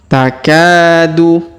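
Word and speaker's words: تَكَادُ: Takadu. Perhatikan huruf K yang ini ya. Kita panjangkan 2 harokat karena di depannya terdapat alif.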